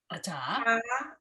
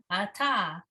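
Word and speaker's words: אתה: yusha, beru, tach, Ata. tach, Ata. ta. The hay is silent. The hay is just an open hay. Yeah. Ata.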